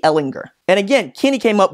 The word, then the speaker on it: Ehlinger: is really oriented around Sam hard G Ehlinger and again Kenny came